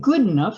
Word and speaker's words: Goodenough: And a small fish named after a slave boat, the Amistad gambusia, known only to occur in Goodenough Spring, pronounced good enough, a tributary buried under sludge near the Rio Grande.